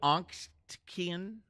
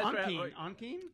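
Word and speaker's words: Ontkean: Michael Onctine. Am I saying it right? I thought Onkeen. Onctine. Onkeen. Also in Twin Peaks.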